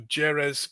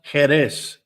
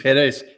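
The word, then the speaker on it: Jerez: Sicily uh amazing trip you can go to jerz cadis for Latin mass in Andalucia well did you know that's that about Robert that's pronounced heres j r e z is heres and do you know where what what that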